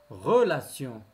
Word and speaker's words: relation: Relation. Relation. Toujours, T se prononce C.